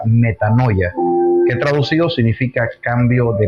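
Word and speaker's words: μετάνοια: que se transmite en una palabra que se pronuncia metanoia, que traducido significa cambio de mentalidad.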